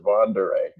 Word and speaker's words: von der Ahe: was researching this I I found an ad from the 20th century that said all the way with vanderee it was a Vere moving company so that's that's basically why I concluded I i' pronounce it vanderee Vere so he um uh